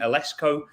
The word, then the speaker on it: Eleczko: way from rally in North Carolina is Stacy alesco to talk about her journey from educator to